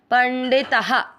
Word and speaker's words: पंडितः: ड पे ई की मात्रा पंडिता, ता में आ की मात्रा है तो विसर्ग को पढ़ेंगे हा, पंडितः।